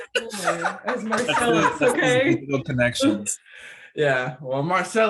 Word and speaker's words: Marcelese: It's Marcelese.